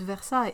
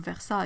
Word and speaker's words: Versailles: Because yeah, if you try to pronounce every single letter of Versailles, you're gonna end up with a really weird word. But the thing is that the A-I-L-L-E-S, it's one sound.